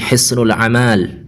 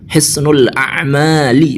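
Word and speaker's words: حصن الأعمال: Jadi beliau itu membaca Hisnul Amal, katanya itu. Jadi Hisnul Amal salasatun, Hisnul Amal, padahal kata yang benar itu al-a'mal, Hisnul A'mali, begitu mestinya.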